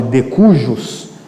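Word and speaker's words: de cujus: aí ó tal de de cujos o J do latim na verdade se pronuncia com i recursos de cursos em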